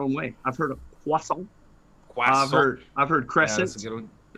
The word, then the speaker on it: croissant: Do you pronounce it croissant? I do, but I understand that it's probably more like croissant. Croissant.